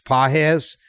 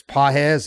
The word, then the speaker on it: Pages: first couple of games pz it's spelled like pages but it's pz he was a stud